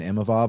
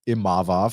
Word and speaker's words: Imavov: So respecting Nassourdine Imavov on the big win.